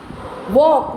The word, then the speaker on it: walk: Walk, walk में L नहीं बोला जा रहा ना, so L is silent.